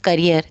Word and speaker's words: career: आप प्रोनाउंस करेंगे ना वर्ड करियर तो यह करियर है कैरियर नहीं है ठीक है कैरियर जो